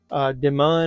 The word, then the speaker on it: DeMunn: Thomas Howell, Jennifer Jason Leigh, and Jeffrey DeMunn, is how you pronounce his name, is Captain Esteridge.